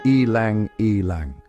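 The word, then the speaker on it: ylang-ylang: I lang pronounced elang elang.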